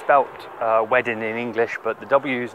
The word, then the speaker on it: Wedding: central Berlin it's felt wedding in English but the W's and Germany are pronounced like a V town of Verdun we